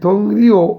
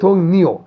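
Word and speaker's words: 동료: মানে কর্মস্থল, থং রিউ, এই থং রিও উচ্চারণ হবে থং নিও, এই অনেক সাত থাকলেই উপরের রটা দন্তান্ন হয়ে যায়, থং নিও দুল গোয়া,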